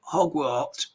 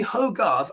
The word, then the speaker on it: Hogarth: someone's called me hi hogwart uh hogwarth well my name's actually hogarth i know linda g struggles sometimes to say my name so just call me